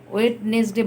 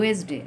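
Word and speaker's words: Wednesday: তো অন ওয়েডনেসডে বলবে না, কিন্তু এটার উচ্চারণ হবে ওয়েসডে। লেখার সময় ওয়েডনেসডে, ঠিক আছে, কিন্তু যখন বলবে তখন ওয়েসডে।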